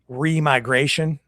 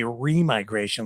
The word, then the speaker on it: remigration: I would say remigration. They they're everybody's pronouncing it remigration. I'm like reigration. It would be remigration, like reversed migration.